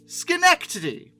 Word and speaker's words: Schenectady: hold on a second Schenectady not Schenectady I've gotten so many comments on my Alco video about this I apologize it's pronounced Schenectady okay now I know originally